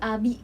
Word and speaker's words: abdi: Aing Ih, abdi. kasar. Abdi teh. Tapi kayak Ayeuna. enggak pronounce itu kayak enggak di abdi gitu loh. Iya. Tapi kayak lebih ke abi.